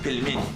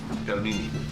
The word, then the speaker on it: pelmeni: This dish, again, how do you pronounce it? Pelmeni. Pelmeni.